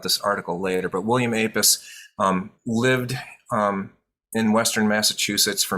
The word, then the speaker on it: Apess: And you'll notice that while my introducers say Apess and I'm saying Apess, the pronunciation of the name is there are various different pronunciations. I go with Apess for various different reasons, but I just thought